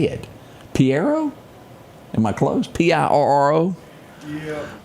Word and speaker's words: Pirro: Piero? Am I close? Pirro? Yeah, Pirro.